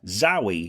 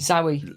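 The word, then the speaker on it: Zowie: something else in this book that calls the pronunciation into question? Yeah. is that they call their child Zoey. Zoe, like Z O W I E.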